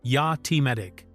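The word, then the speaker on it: Jatimatic: The gun is a Finnish Jatomatic submachine gun, pronounced ja-timatic, which was developed in the late 1970s and early 1980s by a Finnish inventor named Jali Timari.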